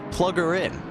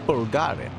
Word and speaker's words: Pulgarin: When I first saw Pulgarin's name, I thought his name was Plugger In, but that's definitely not how you pronounce it. It's Pulgarin.